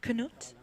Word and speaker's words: Knut: explaining how to say Nut's name. Yes, I feel like we finally Yeah, might have it. Knut, if I'm saying it correctly. yeah, Knut's name. And you hold the U, Nut.